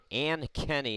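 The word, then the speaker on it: Ankeny: Ann Kenny is how you say, Ann Kenny, Iowa.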